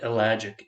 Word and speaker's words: ellagic: e as in Earl l-a-g-i-c like magic but elagic e-l-l-a-g-i-c acid so it's